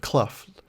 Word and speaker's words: Clough: little note in parentheses i said clough like pronounced like bluff but i i didn't